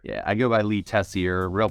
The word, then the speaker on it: Tessier: Yeah, I go by Lee Tessier. Real pronunciation's Tessier. It's French Canadian, but we're good.